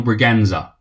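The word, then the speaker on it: Bragança: Now, I Googled this to see how to pronounce it, and that little weird thing under the C apparently means it was pronounced as a Z. So it's Daniel Braganza.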